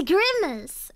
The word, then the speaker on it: Grimace: I heard you pronounce it in your stream. I thought it was so cute. You're like Grimage. Oh, it's not... So I'm behind it's Grimace.